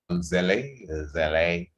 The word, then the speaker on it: Zelle: Remember the Zelle number, as it's pronounced, Zelle.